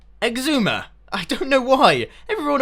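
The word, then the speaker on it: Xisuma: correct way of saying it's got an x at the beginning x zoomer exuma i don't know why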